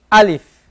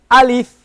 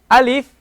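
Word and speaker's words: ألف: O So this first letter we said it's alif now we must make sure that we pronounce it as alif alif and not Al if because Al if if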